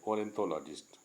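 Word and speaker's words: ornithologist: आगे आर्थोनोलॉजिस्ट आर्थोनोलॉजिस्ट मीन्स होता है पक्षी विज्ञान। आर्थोनोलॉजिस्ट सॉरी ओरिंथोलॉजिस्ट उसको बोलते हैं सही उच्चारण।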